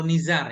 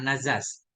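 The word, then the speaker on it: نزار: Bukan Nazaz. Nazar atau Nizar ini, bukan Nazas.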